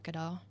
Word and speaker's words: Gadot: I mean, the Wonder Woman posters, they did 4 teasers for that one, and they're all just Gal Gadot, and it's I said her name wrong, Gadot.